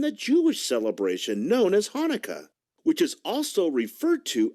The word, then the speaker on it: Hanukkah: in the word but no matter how you spell it it's always pronounced the same way hanukkah say it with me hanukkah and it's always celebrated